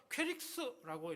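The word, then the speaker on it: κῆρυξ: 헬라어로 보니까 퀘릭스라고 이렇게 발음을 하는데 복음을 외치는 자, 잘못했네요.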